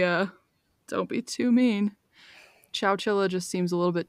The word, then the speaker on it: Chowchilla: have to say that pronouncing Chow Chilla is really hard because I keep saying either cow Chilla or chinchilla which are both very wrong so yeah if you